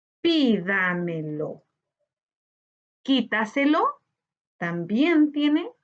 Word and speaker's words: Quítaselo: Quítaselo. Al igual que los dos ejemplos anteriores, la sílaba tónica la encontramos en la anterior a la antepenúltima sílaba.